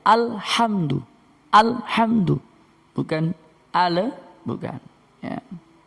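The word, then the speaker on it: الحمد: Alhamdu, alhamdu, bacanya harus al, bukan ale. Nanti kalau kita baca ale, ya mohon maaf, ini kita rubah dulu backgroundnya ya. Jadi bacanya bukan alham, bukan ya. Jadi bacanya alhamdu, alhamdu, bukan ale, bukan ya.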